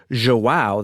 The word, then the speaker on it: João: brothers were injured, and João, that's how you pronounce that, J-O-A-O, João was actually dead. And I'm probably mispronouncing that a little bit, but it's a lot closer than it was.